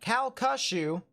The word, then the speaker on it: Calcasieu: But Calcasieu.